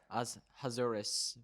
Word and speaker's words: Ahasuerus: Ahasuerus, both near and far, to have them observe